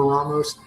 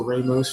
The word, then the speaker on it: Ramos: The cocktail we're making today is a bit of a riff off of a Ramos, or Ramos, depending on how you pronounce it.